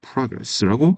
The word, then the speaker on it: progress: 있는 거죠 we progress progress 아으로 읽으 되죠 발음은 progress니다 프레스가 아니에요 progress very big day